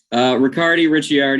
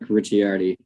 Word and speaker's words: Ricciardi: Ricciardi? Ricciardi, either one. Yeah. Oh, isn't that something? The Italian pronunciation. Italian company, so I'll try to keep it proper. Ricciardi.